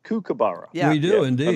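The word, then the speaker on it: kookaburra: like you're making your dinner Tom it's a cook abara a cabara oh cabar Julia did you know that I've been mispronouncing it cabar all all Americans say cabara we do indeed it's it's actually a cabara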